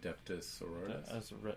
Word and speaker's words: Adeptus Sororitas: How do you pronounce that? Adeptus Sororitas.